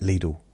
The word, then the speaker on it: Lidl: Now the adverts say um spend a little at little. Don't spend a lot. Spend a little. See now they're rhyming the little. Realize that it rhymes with little.